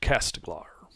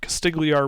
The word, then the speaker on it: Castigliar: your long rested in Port castiglar castiglier guy was mispronounced that first on the east side